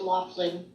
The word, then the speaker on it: Laughlin: Your co-author is right. It's pronounced Laughlin.